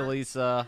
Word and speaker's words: Leasia: Hey, Lisa!